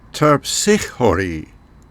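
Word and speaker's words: Terpsichore: should warn you that I'm trying to use the original Greek pronunciation and most of the time you will hear the names of the muses pronounced in an Americanized or anglicized version for the English so the way you will hear them pronounced elsewhere might sound different from the way I'm saying them here terpsichhori is the muse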